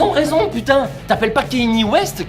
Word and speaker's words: Kanye West: En France, on le prononce V comme un simple V. Mais en Belgique, on le prononce WE.